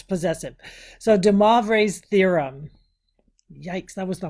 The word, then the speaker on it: de Moivre: So de Moivre's theorem.